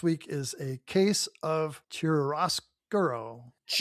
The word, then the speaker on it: chiaroscuro: Just just pronounce it like with an Italian accent. I don't know if it's an Italian word or not. Dan, next week is a case of chiaroscuro.